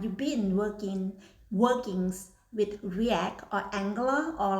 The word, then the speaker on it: React: or ask me about reacts uh react okay react not reacts or react okay I try to pronounce